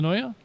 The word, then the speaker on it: Senoia: Senoya?